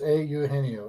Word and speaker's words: Eugenio: So they don't just say Eugenio; they say Eugenio. Okay. It's Eugenio. In Spanish, all the letters are pronounced.